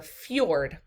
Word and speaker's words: fjord: The next example of a primary coast is that of a fjord. And I know it's spelled F-J-O-R-D, but it's pronounced with the J as like a Y.